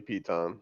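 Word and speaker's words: piton: clear on the pronunciation is Pete on it's totally Pete on how about how about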